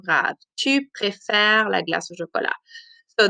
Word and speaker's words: préfères: But this one here, because it's E consonant, E, and when you say it, tu préfères, the R is the last sound because the ES is silent.